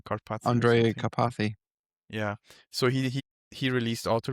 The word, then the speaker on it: Karpathy: I am afraid to Oh, mispronounce his name, Karpathy or Andre something. Karpathy.